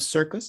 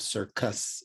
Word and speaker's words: circus: think the word sir this c in the beginning of circus is pronounced as an s and this c in the middle of circus is pronounced as a